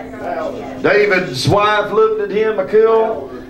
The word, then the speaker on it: Michal: David's wife looked at him, Michal. I call her Michal because if you pronounce it another way, it's just Michael. And I don't believe a woman's name sounds too right saying Michael.